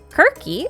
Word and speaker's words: Kirke: I then suggested that Skirk may therefore be Circe, because Kirky is how you would kind of pronounce Circe in Greek, because C's and K's are somewhat interchangeable.